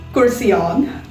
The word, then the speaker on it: Kurseong: it it becomes cursion you can maybe say kursi the hindi chair individual and om only is something we can all pronounce easily right so cursey plus om kurcian or you can go through the syllable wave which is cursing on either ways pronunciation remains the same curseon and i hope that